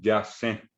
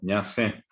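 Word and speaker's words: ñasẽ: El guaraní hablante siempre va a decir ñandé, ñamba, apo, ñandé, ñacé. No dice ñandé, yacé, sino ñacé.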